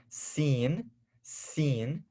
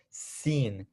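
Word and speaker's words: سين: a very clear s a very clear s seen seen so hey have you seen that show or have you seen that dude seen that's what we're talking about seen okay and this is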